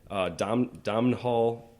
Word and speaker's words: Domhnall: Domhnall.